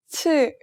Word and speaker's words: 치: 치, 치, It sounds like the CH in China.